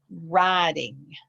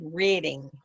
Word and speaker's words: riding: that was yours, Pedro, riding. It's a long I instead of a short I. I think you said reading. reading. Yeah, but it's a long I, which makes it sound like riding.